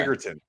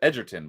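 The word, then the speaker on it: Egerton: Yeah, it's as far as I understand it's a hard G. Oh, I thought it was Edertton, but it's Eggertton.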